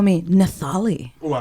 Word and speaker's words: Nathaly: Not Nathaly, as I just found out. The H is silent.